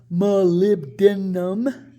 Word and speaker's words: molybdenum: it for but today malebian pronounced molybdenum is almost everywhere in